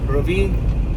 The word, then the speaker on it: Ravi: So that's the true pronunciation of my name, Ravi. But everyone, like I said, call me Ravi.